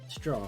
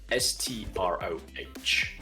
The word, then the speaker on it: Stroh: Stroh. It's spelled Stroh.